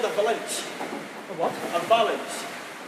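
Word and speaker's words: valinch: This is called a valanche. A what? A valanche. How do you spell that?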